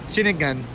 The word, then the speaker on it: Ceningan: Ceningan.